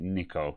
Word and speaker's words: Nikko: No, I'm going to pronounce it Nikko because it's probably Japanese. Anyway, I had one of these.